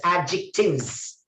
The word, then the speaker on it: adjectives: Adjectives. D is silent. Adjectives. Adjectives.